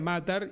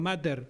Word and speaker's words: Matar: Sí, a mí me preguntaban de mi apellido y yo decía Matar y me decía, bueno, Mater. No, no es Mater. No, Matar.